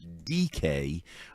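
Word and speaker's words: Dike: It's not spelled DK, it's spelled D I K E, but it's DK.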